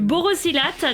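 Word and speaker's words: borosilicate: du du Vert spécial c'est du Boro silates ça se prononce comme ça du borossilate donc des flacons comme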